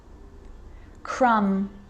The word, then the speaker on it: crumb: practice them with me i'm not pronouncing the b i'm just pronouncing the m consonant sound climb crumb and the letter b